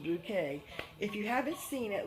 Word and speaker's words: Bucket: Bouquet, but it's spelled Bucket, B-U-C-K-E-T, and she pronounces Mrs. Bouquet.